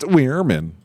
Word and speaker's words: Werman: Excuse me, I believe it's pronounced Weirman.